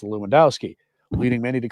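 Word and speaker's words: Lewandowski: stumble over the pronunciation of his last name, pronounced Luwendowski, leading many to call him Bishop Bruce."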